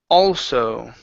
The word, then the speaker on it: also: go all right okay instead of old also okay open your mouth ah all also although mm-hmm okay was also getting ready to leave what author get into ready to leave okay one more time was also getting ready to leave but also getting ready to leave yeah so just remember with those words that have the AA or the AL in it it's gonna be a